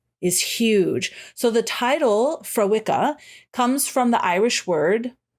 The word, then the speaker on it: Fréwaka: is, first of all, they named it Fréwaka the way it's spelt. They spelt it phonetically so that people, they said, like, we're trying to be nice. We didn't want people, because how it's spelt, Fréwaka, how it is spelt is Freamhacha. And she was like, nobody was going to be able to say this.